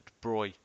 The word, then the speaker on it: de Broglie: called the de bruy it's spelt de broglie but it's actually the de bruy wavelength which is measured in